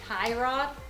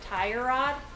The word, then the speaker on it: tie rod: It's actually a tie rod, and he always says tire rod.